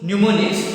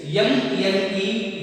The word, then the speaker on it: mnemonics: Mnemonics, your spelling is M-N-E-M-O-N-I-C-S, and the pronunciation is mnemonics. Pronunciation is mnemonics, and it is spelling is M-N-E-M-O-N-I-C-S, mnemonic.